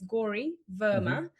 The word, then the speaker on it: Gauri Verma: Uh it's Gori Verma. Uh it's actually a name I'm named behind a goddess. So we have loads of gods and goddesses in India and Gory is one of one of the goddesses.